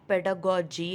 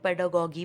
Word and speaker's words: pedagogy: अब यहाँ पर मैं बता दूँ, प्रोनाउंसिएशन इसका पेडागोजी है। बहुत सारे लोग पेडागोगी बोलते हैं, वो सही प्रोनाउंसिएशन नहीं है ये वर्ड का। Okay, it's पेडागोजी।